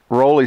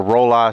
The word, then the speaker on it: Rollei: I have it and it says Ry 16 on it or roll I 16 depending on how you want to pronounce it and uh it's got